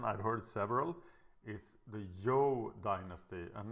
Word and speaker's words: Zhou: nate who actually speaks chinese that the correct pronunciation i've heard several is the yo dynasty and not anything else so this is pronounced the yo dynasty and I have said it wrong 400